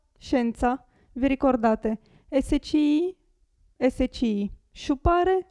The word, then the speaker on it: scienza: già fatto prima l'esempio hotel adesso Provate a pronunciare queste queste parole sciupare sciupare scienza scienza vi ricordate sci sci sciupare scienza qui gatto gatto cielo Celeste qui è facilissimo